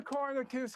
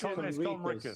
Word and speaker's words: Conricus: Mr. Kornikis asks the question. It's Conricus.